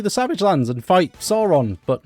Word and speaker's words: Sauron: This one is actually called Sauron. I keep mispronouncing it as Sauron just because it's spelt the same.